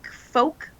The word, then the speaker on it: folk: There's an L in it. Why? Wrong. How am I wrong for pronouncing what's there? Oh, I don't know. Let's look at so many words that have silent letters or letters you don't pronounce.